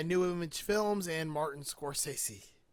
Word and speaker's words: Scorsese: The 1995 movie Search and Destroy by New Image Films and Martin Scorsese. I don't know how to say it. Like that. Scorsese. Right Martin off the bat, Scorsese.